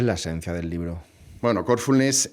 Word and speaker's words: Corfulness: Bueno, Corfulness es, como se ve por el nombre, tiene una fuerza en el en la primera sílaba, ¿no? En el core, ¿no?